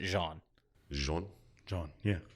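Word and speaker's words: Jeanne: I thought this name was Gianna, but they all in the game pronounce it Jean.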